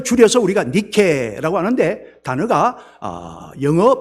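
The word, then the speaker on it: Nike: 그 줄여서 우리가 니케라고 하는데 단어가 영어 발음으로 하자면 아 똑같죠. NIK 영어식으로 발음하면 나이키라고 발음을 하고 있습니다.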